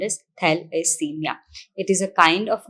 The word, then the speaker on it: thalassemia: today we are talking about thalassemia which is pronounced as thalassemia it is a kind of anemia which is